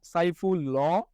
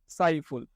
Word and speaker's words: সাইফুল: আমরা তো উচ্চারণের সময় বলি না সাইফুল ল বলি? না। আমরা কি বলি? সাইফুল। অর্থাৎ এই ল এর সাথে যে একটা অ আছে এই অটা উচ্চারণ হচ্ছে না।